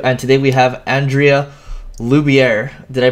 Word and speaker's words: Loubier: host Eric Sue and today we have Andrea luier did I pronounce that right you did good job all